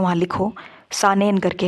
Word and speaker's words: Saanen: ठीक, यहाँ पे एक क्वेश्चन और है, वो ये है कि जहाँ कॉपी में नोट कर रहे हो वहाँ लिखो, सानेन करके है, स्पेलिंग आपको बोल देते हैं SAANEN, सानेन एक स्पीशीज़ है ऑफ गोट, गोट की है।